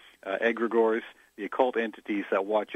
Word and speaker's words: egregores: it's Greek we said egregores although some say he Greg ores and then I understand someone said that the second G should be silent that in Nome we just say egregores the occult entities that